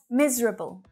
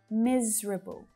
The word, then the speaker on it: miserable: syllables only average average miserable miserable so it looks like there should be four syllables missouri but we just